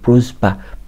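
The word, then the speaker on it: просьба: اللي هي التقيلة، فتنطق بروزبا بروزب، فاهم؟ بروزب بروزب، يعني هي فيها اولها سه وبتنتهي بالزه، بروزب بروزب بروزب بروزز، فاهم؟ سز يعني بدأت بسه وانتهت بزه، بروزز بروز بروزبا.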